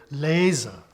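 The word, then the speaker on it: Lese: number one is that in German you pronounce everything there are no silent letters even an e on the end of a word word is pronounced as in the word lasa which means Harvest or picking you'll see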